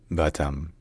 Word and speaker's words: Batam: a gateway to Singapore in Indonesian the name of the city is pronounced batam bam B bam all